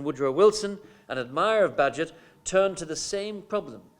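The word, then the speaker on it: Bagehot: and essayist water budget I think that's how you pronounce his name Badgett it looks like Bhagu Bhagu or some except between its budget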